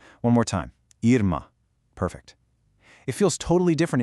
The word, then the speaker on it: irmã: Notice what's missing? That little W sound at the end is completely gone. Instead, it's an abrupt nasalized "ah" sound. That subtle shift in the final vowel is literally the only difference between brother and sister when speaking. So, start with the same ear sound, but cut it off shorter.